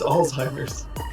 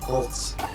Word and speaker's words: Alzheimer's: do you pronounce it I think it's Alzheimer's not alss do I have it